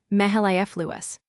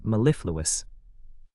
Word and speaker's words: mellifluous: The heavy stress is on the second syllable, the LIF sound, mellifluous. Mellifluous, mellifluous.